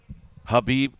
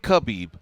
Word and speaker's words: Khabib: Because I can say Habib Nurmagomedov, not Khabib, Habib Nurmagomedov. Took me a while. I think I used to say Khabib Nurmagomedov.